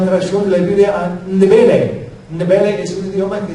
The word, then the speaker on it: Ndebele: Es difícil de pronunciarlo, Ndb. Yo sé, para los que hablan español, 3 consonantes juntos es algo diferente. Pero se dice Ndebele.